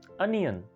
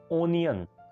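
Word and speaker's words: onion: Next word है प्याज यानी अनियन, लेकिन लोग इसको बोलते हैं ओनियन। ओनियन, उसकी वजह ओ से स्टार्ट हो रहा है तो ओनियन, ठीक है। लेकिन इसकी करेक्ट प्रोनाउंसिएशन है अनियन, अनियन।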